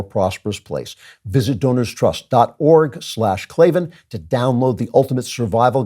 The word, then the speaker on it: Klavan: I know you're thinking that's it's claven claven how do you how do you spell that it's k a v a an no ease in claven I just make it